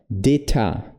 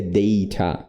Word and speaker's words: data: E aí ele fala deta data, né? Que na verdade seria data, data, data, data, né?